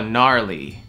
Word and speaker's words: gnarly: Gnarly. Gnarly. Это и G как будто там и не должно быть.